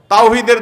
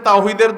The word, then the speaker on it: তাওহীদ: দল কি নাম দেয় তাওহীদের দল হিজবুত তাওহীদ মানে তাওহীদের দল কিন্তু আপনি যদি জিজ্ঞাসা করেন তাওহীদ শব্দটা শুদ্ধ উচ্চারণে একটু বলেন আরবিতে তাওহীদ এ হা যথাস্থান থেকে উচ্চারণ সঠিকভাবে তাদের শতকরা কয়জন